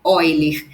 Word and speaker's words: Euler: Então, apesar da gente escrever Euler, a pronúncia correta é Euler.